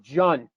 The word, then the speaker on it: John: But when you come to English, the J becomes, you sound the J. So instead of Jan, you have John.